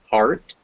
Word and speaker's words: heart: Some notable exceptions to these rules are the words heart, where it's an ah sound, heart, and great, where it's an A sound, great.